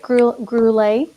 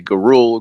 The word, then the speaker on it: Gurule: Did I say it right? Gurule? Yes, you did. That's very good. That's that. is easiest. That's why I tell everybody, because people usually say Gurule, Gurule, Gorilla, Ja Rule.